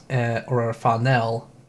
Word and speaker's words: Fanel: But let's move on to Vaughn Funnel, or Fanel, as they pronounce it in the anime, who is the main love interest and also I think it's called Draconia.